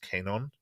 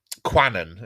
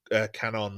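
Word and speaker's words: Kwannon: n o n but it's a Japanese name so I think is pronounced Canon Canon quanan is how I've I've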